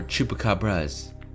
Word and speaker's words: chupacabras: the woods stop the chupacabra or chupacabras Spanish pronunciation to pick up a